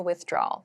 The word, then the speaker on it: withdrawal: you can use I'd like to make a withdrawal. So I'd like to take money out of my bank account. I'd like to make a withdrawal.